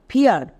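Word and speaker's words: fear: যেমন এন ই এ আর, নিয়ার, এফ ই এ আর, ফিয়ার, টি ই এ আর, টিয়ার।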